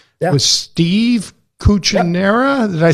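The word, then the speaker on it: Cucchiaro: With Steve Cuccinera. Yep. Did I say it right? Yeah, Steve Cucciaro, who is our CEO and Chief Investment Officer,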